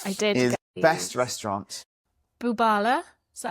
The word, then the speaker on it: Bubala: Bubala. Is that how you say it? Bubala.